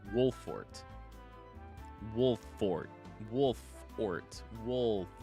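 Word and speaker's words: Wolffort: is made of it with the two fs in there it looks like it should be pronounced wolf fort but it's wolfort wolf fort wolf ort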